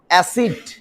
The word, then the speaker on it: অ্যাসিড: যেমন আমি উচ্চারণ করলাম অ্যাসিড, আমরা কি অ্যাসিড বলি না অ্যাসিড বলি, অ্যাসিড।